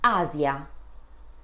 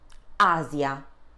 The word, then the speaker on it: Asia: When in between two vowels and normally in the middle of a word, then the sound is a bit more delicate as the S sound in rise. So we would say Asia.